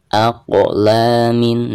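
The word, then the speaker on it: أَقْلَامٌ: Aqlamin. Nah, huruf qaf ketika sukun maka dihukumi qalqalah, cara membacanya harus ada pantulannya.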